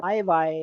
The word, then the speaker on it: hay: It's not high, H is silent, so I.